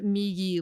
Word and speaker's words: Migi: It is not Migi like the word for right in Japanese. That's how I tell people to remember it and pronounce it if they know Japanese, but it's actually because